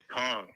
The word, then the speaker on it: Khang: And Khang is now a good time to talk? Yeah, it is, but it's Khang, like King Kong. Khang.